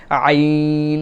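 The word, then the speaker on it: عين: সূরার মধ্যে এই যে আইন, এটা আমাদের জন্য অত্যন্ত গুরুত্বপূর্ণ। এই গলার মধ্য জায়গা থেকে আইন, আইন।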